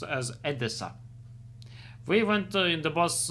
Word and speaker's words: Odessa: Ukraine city Odessa because that city is called pronounced as Adessa.